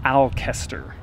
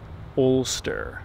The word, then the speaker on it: Alcester: know about the name when you look at the way it's spelled it looks like i'll Kester i said what we were saying that for the longest time Chester yeah but really you pronounce it Ulster bolster what's the example you've had it's like holster yeah without holster without the EH Ulster so this is